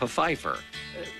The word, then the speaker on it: Pfeiffer: The Secret Diary of Desmond Pfeiffer. The P isn't silent. Yep, see, I wasn't mispronouncing that name.